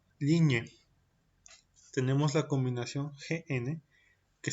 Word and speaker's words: ligne: Et pour finir, on a la combinación GN que se pronuncia como ñi, par exemple, ligne.